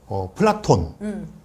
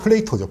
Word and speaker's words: 플라톤: 플라톤은 무식하고 그렇게 발음하면 플라토라고 해야 된다. 영어에서 플레이토죠. 플레이토. 이러고 플라톤 틀렸다는데 유럽에서는 플라톤이 되게 많거든요.